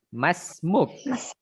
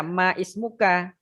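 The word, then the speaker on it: ما اسمك: Jadi kita bacanya masmuk. Sekali lagi. Masmuk. Masmuk. Bukan kita baca maismuka. Nah, itu ya. Hindari kita membacanya dengan macam barusan tuh maismuka itu. Itu nggak keren yang begitu ya. Yang kerennya itu masmuk.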